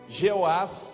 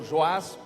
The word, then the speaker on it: Jeoás: O rei Jeoás, ou Joás, como outras pronunciam, foi visitá-lo para ter